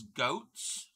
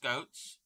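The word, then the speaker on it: Goetze's: the brand name is goats yes it's pronounced goats so that is a Baltimore thing um where's the next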